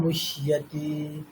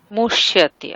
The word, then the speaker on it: মুহ্যতি: কিন্তু এখানে আমাদের কি আছে, হ আছে, তাহলে হকারের যেমন উচ্চারণ হয় তেমনই, হ ইয়া হিয়া, মুহ্যতি, মুহ্যতি।